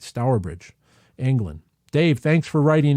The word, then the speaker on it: Stourbridge: how you pronounce it so I think I'm pronouncing it right stourbridge England Dave thanks for writing in yes if